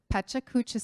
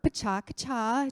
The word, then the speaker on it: Pecha Kucha: Each of the speakers is going to do this Pecha Kucha style, or Pacha-Kacha, depending on how you pronounce it.